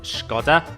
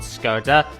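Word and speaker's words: Škoda: And by the way, it's actually pronounced Skoda, not Skoda.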